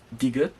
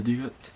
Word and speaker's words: 디귿: And then the next letter here is 디귿, which is a kind of like a D sound in English.